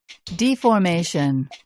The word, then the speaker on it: deformation: 원래 발음은 deformation 입니다.